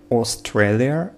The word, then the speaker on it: Australia: Australia, Australia, Australia, Australia, not Australia, Australia, Australia.